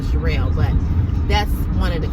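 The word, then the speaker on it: Cheral: calls me shirelle because nobody can pronounce my real name everybody call me Shirley Cheryl Cheryl uh I ain't heard it all everything but shirelle and my name is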